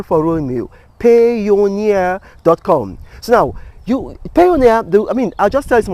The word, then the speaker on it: Payoneer: Payoneer. It's almost like Pioneer, but it's called Payoneer.